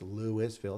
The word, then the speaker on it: Louisville: Oh, it's Louisville. It's pronounced that way for Colorado.